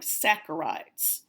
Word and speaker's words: saccharides: pronounced sac arrives not Sasser ides the H is silent so it's like an S ACK AR I des so it's like saccharides and the EOC final exam whatever that might